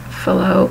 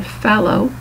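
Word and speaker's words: Fallot: here is pronounced either fo or fow depending on how you your doctor or your hospital pronounces it. Main thing is that that t that ending t is not pronounced and pulmonary stenosis is inherent in this disorder.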